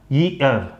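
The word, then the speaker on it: year: लेकिन जैसे बोलने में आपको लगेगा नहीं मेरा तो ई ही निकल रहा, सही प्रोनाउंसिएशन इसका होगा ईयर, ईयर, ईयर ई नहीं होगा।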